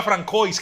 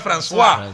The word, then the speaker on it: François: Sí, después nos enseñaron que no era Francois, que era François.